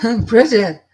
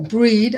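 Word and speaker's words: Brigid: Oh, Bridget. Or Breed. I say Breed sometimes.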